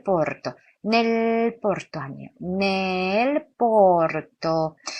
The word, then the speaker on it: porto: nel porto. 여기 porto에서 오는 열린 오입니다. 그러니까 입을 아처럼 열린 상태에서 오 발음을 하고요.